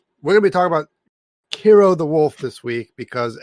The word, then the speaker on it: Kero: name is uh well their name rhymes with zero well they are zero so yeah their name checks out yeah the name starts with the k and rhymes with the zero and um but anyway um